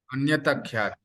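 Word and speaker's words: अन्यथाख्याति: The theory of illusion accepted by Naya called okay, what's its pronunciation? Anaya अन्यथा ख्याति सर। Anyata Khyati.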